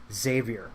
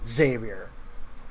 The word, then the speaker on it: Xavier: keep me pronouncing that they keep trying to emphasize the axe it's Xavier yeah that's all it is not Xavier well when you lead